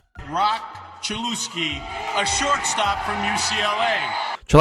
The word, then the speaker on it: Cholowsky: And not just because Rob Manfred completely botched pronouncing his name. Rock Chelouski, a shortstop from UCLA.